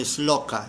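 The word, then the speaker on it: śloka: Por eso cada texto se dice, no se dice textos, sino se dice s loca en sánscrito. Así se, esa es la palabra es loca.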